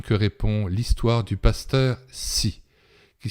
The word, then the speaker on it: Hsi: Eh bien, c'est à cette question que répond l'histoire du pasteur Si, qui s'écrit H-S-I.